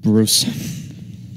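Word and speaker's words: Brûz: And they also have to recruit Bruce. Well, yeah, but Bruce is also like the best thing ever. It's an Australian orc. His name is it's spelled B-R-U with an oolag Z, but it's pronounced Bruce.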